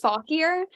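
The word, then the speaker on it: Fauquier: so my no you're good it's um it's pronounced fall here and it's a county in Northern Virginia so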